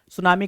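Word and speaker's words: tsunami: T silent होता है सुनामी कभी टी साइलेंट होता है क्या होता है बेटा सुनामी रख लिया छाप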